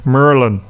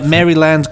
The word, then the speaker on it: Maryland: emailed from he says the natives pronounce Maryland he's written mu u mu RR LAN Merlin Merlin or the Merlin though if you want to do the standard British version merry lads make merry